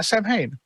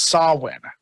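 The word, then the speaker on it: Samhain: Festival that references is is pronounced saw win when it comes to that holiday and everything uh Heidi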